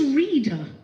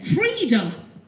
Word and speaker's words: Freda: Who's reader? I'm saying it wrong. Isn't that funny? I've just been told off. Am I saying it wrong? What is it then? Freda.